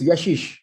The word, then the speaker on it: Yashish: here uh thank you so much am i pronouncing your name properly it's yeshi yashish it's yashish you're doing it very very well thank you